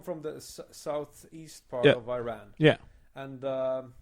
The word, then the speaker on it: Iran: It's pronounced Iran. Iran, yeah.